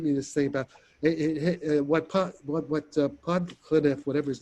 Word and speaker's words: Podkletnov: If you want, okay, there's did you see his latest thing by Podklinov or how do you say, you know? Podkletnov.